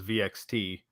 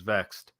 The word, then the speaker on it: Vexed: I always thought it was VXT, but they pronounce it as Vexed.